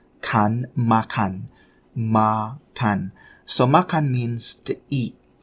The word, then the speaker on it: makan: Make sure you put your lips together. Kan. Kan is sort of like glottal sound, like at the back of your tongue. Kan, makan, makan.